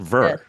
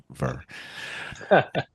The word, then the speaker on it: VIR: It's called Ver. Verr. Verr. Some people can't pronounce it, so they spell it vi, but you know. Oh, yeah. If you really look at it, it's Verr.